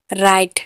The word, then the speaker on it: write: Wrong, WRONG, wrong, wrong, sorry, wrong, wrong में आर से पहले डब्ल्यू है तो डब्ल्यू साइलेंट है। राइट, WRITE, राइट।